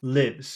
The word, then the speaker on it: lives: Lives.